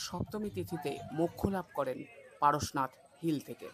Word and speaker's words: পারসনাথ: এই পারসনাথকে অনেকে পরেশনাথ বলে আখ্যায়িত করে থাকে যা সম্পূর্ণ ভুল। জৈন ধর্মের 23 তম তীর্থঙ্কর হলেন পারশ্বনাথ। হিন্দিতে উচ্চারণ করলে পারসনাথ হয়। তিনি এখান থেকে মোক্ষ লাভ করেছেন বলেই তার নাম অনুসারে এই জায়গার নাম হয় পারসনাথ বা পার্শ্বনাথ বলা যেতে পারে বাংলায়। তবে পরেশনাথ একেবারেই নয়।